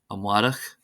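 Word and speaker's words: amárach: exceptions, and here are some common words that are exceptions, that is, they're not stressed on the first syllable. Anseo, anseo, meaning here. Anish, anish, meaning now. Amwarach, amwarach, meaning tomorrow.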